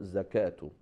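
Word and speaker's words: زكاة: So whenever we have on the top of waw that alif maqsura, that waw is silent, and instead of waw we pronounce alif, like salatu, zakatu.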